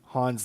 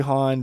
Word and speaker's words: Han: So I definitely noticed in the original trilogy that the only person in the universe to pronounce Han's name as Han was Lando.